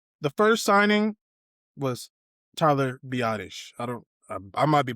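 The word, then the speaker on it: Biadasz: So, we got the the first signing was Tyler Biottish.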